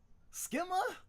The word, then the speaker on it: schema: And that's how you pronounce that word. Skma. Schema.